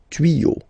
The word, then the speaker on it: tuyaux: You won't add s at the end, but instead of s you will put x. Okay, des tuyaux. Same rule, you don't pronounce it.